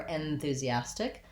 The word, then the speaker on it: enthusiastic: other syllables first because this first syllable in the letters e n is unstressed at the beginning we don't really say it with the red tent vowel enthusiasm or enthusiastic i can use the and it won't sound incorrect but it's short and